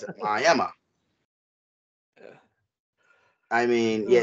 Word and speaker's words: Miami: even though it's spelled Mike Miami Florida they pronounce it ayema I mean yeah it's trifling yeah um but